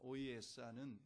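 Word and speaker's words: Ohiyesa: 오이에사는 영어 인디안 발음으로 오이에사입니다.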